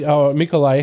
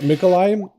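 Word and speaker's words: Mikołaj: Which is pronounced Mikolai. Kind of like Nikolai, but with an M, yeah? No, it's Nicholas. Mikolai is in Polish. Oh, really?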